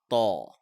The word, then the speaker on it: Taw: learn is the letter Taw. Just repeat after me. Taw. This is how Taw looks like, and it's a heavy letter because it has an aw sound in it.